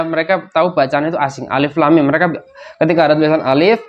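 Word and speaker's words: الم: tahu bacaan itu asing Alif Lam Mim mereka ketika ada tulisan Alif Lam Mim mereka baca alaman alamun ya ilmun ulumun atau apa ya tapi Nabi Muhammad wasallam Bacanya apa Alif lam mim gitu asing bagi mereka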